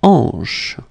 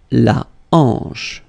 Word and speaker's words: hanche: La hanche. La hanche. Remember, H here is not pronounced, so you get the sound en, hanche, at the beginning.